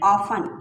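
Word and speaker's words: often: people ऑफन, यहाँ भी T silent है, ऑफ्टन नहीं पढ़ा जाएगा, ऑफन, पीपल, लोग, ऑफन, डिले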